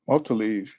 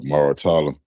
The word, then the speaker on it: Muratalla: That they're gonna get that to Multaleave. Motala. What his name? How you say his name? Raymond. His name Muratalla.